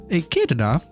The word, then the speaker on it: Echidna: I got told off for pronouncing that wrong last time. Echidna.